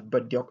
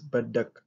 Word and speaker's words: badak: But you don't pronounce it as badyok actually. It has to be pronounced as badak.